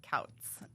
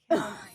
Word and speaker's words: Couts: Yeah, So I get like Coots and Counts and Like, I mean that's all not sorts good.